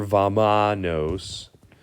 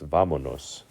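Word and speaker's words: vámonos: I don't want to hear vamanos, even though you might have thought that's what it was saying your whole life. No, it's vamonos.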